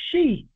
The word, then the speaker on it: Xi: from Africa somewhat the omeg people call themselves shei pronounced she people remember I told you that the